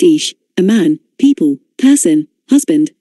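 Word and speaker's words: אִישׁ: the covenant people number 376 aish pronounced ish a man people person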